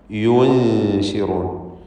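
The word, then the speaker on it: يُنشِرون: യു, ആ യു എന്ന ശബ്ദം ഉച്ചരിച്ച് പിന്നീട് നൂനിനെ ഉച്ചരിക്കുമ്പോഴേക്കും ചുണ്ട് അതിൻ്റെ തർക്കീഖോട് കൂടിയുള്ള നൂനിൻ്റെ ഉച്ചാരണത്തിലേക്ക് കൊണ്ടുവരണം. പിന്നെ ഷീനാണ്, ഷീനിൻ്റെ മഖ്റജിലേക്ക് ശബ്ദം വീണ്ടും മാറുന്നു. യുൻശിറൂൻ.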